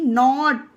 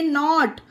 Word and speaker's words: knot: उसी तरह से KNOT, नॉट, इसे पढ़ेंगे नॉट। यहाँ पे भी के साइलेंट है क्योंकि के जस्ट बाद एन आया है।